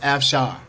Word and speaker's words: Afshar: h8r Sarah F Shawn okay pronounced F Shawn now she wrote something